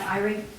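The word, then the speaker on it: Ihrig: For Goldendale #3, I'd like to nominate Irie. will you stand up, please? And spell your name. I-H-R-I-G. I-H. R-I-G. The H is silent.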